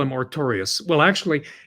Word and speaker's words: Artorius: They have the protagonist, Arthur, they call him Artorius. Well, actually, it's spelled Artorius, but it's pronounced Artorio.